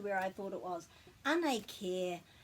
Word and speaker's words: Anei kē: So just be careful to pronounce this as care, because this sound is e, and with the macron it's just a bit longer.